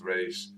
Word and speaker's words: Ra's: That's not Raz, it's Rage. I believe it's because they say it on the animated series, and that's how was it Paul Dini or Tim?